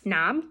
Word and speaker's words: knob: a lot of glue knob doorknob silent k slob that usually means